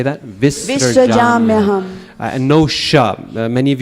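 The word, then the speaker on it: विसृजाम्यहम्: That last word, visrajam yaham, that one can stumble a lot of people. It's visrajam. That SR, very short, quick, visrajam yaham.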